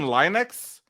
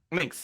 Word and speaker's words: lynx: uh uh a northern Linux oh it's like a lynx links links yeah that's how you say that so they have one